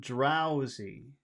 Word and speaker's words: drowsy: How about drowsy? Drowsy. Drow, drowsy, Drow. Drow. Okay. So drow.